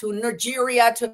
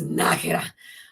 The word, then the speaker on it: Nájera: God, like, instead of, it went from Nájera to Nigeria so I couldn't find it. I was like, how do you spell that? And until finally I was like, oh, it's Nájera. Oh, and I found the